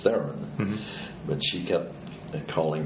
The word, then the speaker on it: Theron: And she put the emphasis on the different syllables. And so her version of my name was Theron. And my way of talking about my name is Theron.